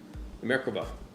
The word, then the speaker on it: Merkava: Merkava.